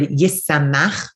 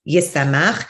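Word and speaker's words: ישמח: What the Mincha Shai says is this word yisamach, which we pronounce yisamach, he says in some editions is actually listed as yisama or yishama, that the chet really is supposed to be a hey. And you could pronounce it yisamach, but it's meant to be written with a hey.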